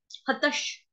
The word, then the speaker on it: हतः: हतश, हतश, ह त विसर्ग, विसर्ग का उच्चारण होगा आधे श से।